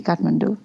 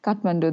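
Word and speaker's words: Kathmandu: pronounce it so well I've heard a lot of different versions of Katmandu they're like cat or you know some weird version but yeah your yours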